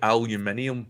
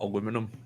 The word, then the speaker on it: aluminium: about the entire film we say aluminium not aluminum what is it aluminium yeah